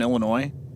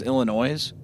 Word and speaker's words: Illinois: Anybody who's from out of state says Illinois, which is very funny to me cuz even even me as somebody who didn't live there before, I never pronounced the S.